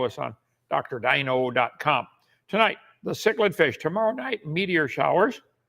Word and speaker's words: cichlid: I would not pronounce it cichlid, but that's what they do, so it's called cichlid.